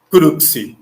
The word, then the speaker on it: crux: Cruz em latim né É difícil pronunciar né correto crux CR essa palavra crux